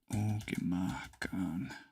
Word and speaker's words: Okimahkan: Because I think, does Okimahkan have a long A in it? Okimahkan.